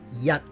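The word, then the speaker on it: 一: practice the word 1 it's yep spelled y8e but the T is muted so don't say at the end let's practice and please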